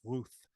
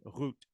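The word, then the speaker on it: רות: though in pronouncing this we're not going to pronounce this Ruth we're going to pronounce it root okay excellent let's try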